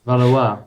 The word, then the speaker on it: Valois: I actually asked my friend who knows how to speak French, how to pronounce. Valois.